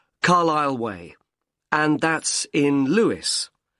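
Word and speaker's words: Lewes: r l i s l e you don't pronounce the S carlisleway and that's in Lewis l e w e s and is there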